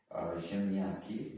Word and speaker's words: ziemniak: Ziemniaki means potato.